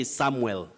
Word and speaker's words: Samwell: m-w-e-l you now say samwell s-a-m-w e-l-samwell but when you have that uel you say samuel very tricky just like